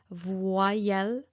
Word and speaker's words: voyelle: go don't worry um so Vel is a vowel okay remember V you see voel okay so the E here is not pronounced uh the y the letter IGG is not pronounced e here it's pronounced y that is because the letter y is a vowel and a semivowel okay so it can